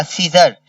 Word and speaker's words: scissor: This is अ सीजर, SCISSOR, सीजर। This is अ सीजर, SCISSOR, सीजर। S silent है, CISSOR, सीजर पढ़ेंगे, लेकिन जब लिख रहे होंगे तो एस भी पढ़ेंगे, सीजर।